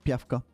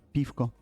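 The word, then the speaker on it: пивко: Here you can find all water, voda or voda, beer, piva, and in the game that's actually pievka, but pivko is the proper way to pronounce it.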